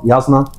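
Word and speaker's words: Jasnah: شالان هي امرأة يقتل والدها، فتضطر إلى الخروج من بلدها إلى بلد تدعى خاربرانت لتتبع ياسنا كولين. هي تكتب جازنا لكن تلفظ ياسنا كولين.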